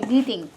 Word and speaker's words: kneading: Okay, kneading. Kneading. K-N-E-A-D? K. E-A-D? K-N-E-A-D. Okay. Yes. Silent K.